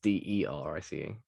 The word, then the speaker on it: Derice: Is it Darice? It's Derice.